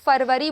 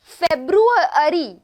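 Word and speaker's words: February: हैं यह बता दूं यह जो वर्ड है इसे बहुत सारे लोग फरवरी बोलते बोलते हैं गलत फ़ेब्रुअरी फ़ेब्रुअरी इस तरीके से बोलना शुरू स्पेलिंग स्पेलिंग में फेब्रुअरी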